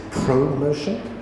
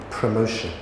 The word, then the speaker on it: promotion: very good excellent and notice this first o what does it sound like promotion it's a promotion exactly it's a pr promotion say it for me